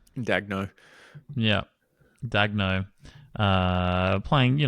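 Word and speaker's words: Daigneault: Mark Dag, how do you spell how you pronounce his last name? Dagno.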